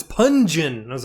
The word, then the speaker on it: Pun-geon: And then I said it wrong, and you're like, no, it's Pun-geon.